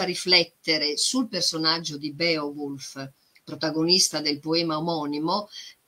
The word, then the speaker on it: Beowulf: rica lo stesso nome beowulf agente lo pronuncia bio bulls all'inglese ma all'epoca si pronunciava come scritto beowulf quindi io ci tengo